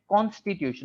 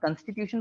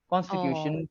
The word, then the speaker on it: constitution: that start with c-o-n their pronunciation is always like Constitution not Constitution but con Constitution confidence conversation it's like that okay another error related